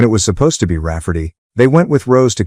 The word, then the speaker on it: Rafferty: to name my niece Rafferty, pronounced Rafferty and not at all like Ray Farty.